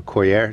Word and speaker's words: coir: peat, rice hulls, and fertilizers, and some cocoa coir or coir, depending on how you say it.